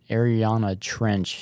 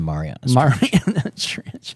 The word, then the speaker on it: Mariana Trench: Yeah, I like, because there's at the bottom of like the Ariana Trench. Is that how you pronounce it? I think it's the Mariana Trench.